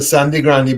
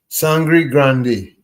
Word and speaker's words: Sangre Grande: In local palat Sandy Grande, but it's spelled Sangre Grande. So, what is the correct pronunciation? Sangri Grande.